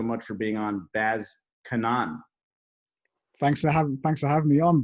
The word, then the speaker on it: Kannan: I'm gonna say with the Indian pronunciation, Kannan.